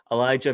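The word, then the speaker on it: Alijah: is it elijah oh you do pronounce the j mo whatever whatever just copy over it just redo it um elijah vera tucker fronted guard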